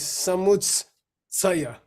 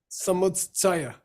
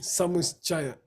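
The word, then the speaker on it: Samuccaya: Okay, there's no cha in Sanskrit. It's tsa, Samutsaya. Okay, Samuchaya.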